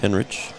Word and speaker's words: Henrich: along with Kirby Olen number 23 is Jonas Henrich it is pronounced Henrich at least I talked to the coach and